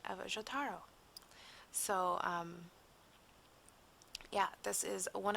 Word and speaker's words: Jotaro: It's like, okay, I just have to roll the J, Jo, because it sounds much better. I mean, Ja and Jo are definitely different. So, Jotaro.